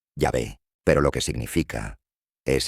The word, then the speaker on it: Yahvé: En hebreo, pronuncias ese nombre, Yahvé, pero lo que significa es el que es.